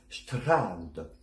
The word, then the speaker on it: Strand: Pour le Strand, vous avez vu que je fais un grand A et pas un an, tout simplement parce qu'en allemand, le son nasal n'existe pas. Tout ce qui est en, on ou un, par exemple. Donc on va dire Strand.